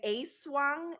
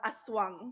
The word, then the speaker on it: aswang: One that actually is pronounced incorrectly is a lot of people say aswang. It's not aswang. It's called aswang, A not swung.